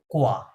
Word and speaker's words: quoi: ওকে আশা করি সবার শেষ আচ্ছা আমি উচ্চারণগুলো বলছি দেখেন এটা হচ্ছে কোয়া এই ইউটা সাইলেন্টের মতো আছে ওয়াই থাকলে ওয়া সাউন্ড হয় তাহলে কিউ ও আই কোয়া হ্যাঁ কোয়া মিন্স হোয়াট